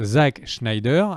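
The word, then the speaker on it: Zack Snyder: Ça se prononce Zack Schneider.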